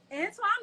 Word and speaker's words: Antwon: correct me you know if i say a name wrong got you okay so um antoine maxwell is a visionary husband i said it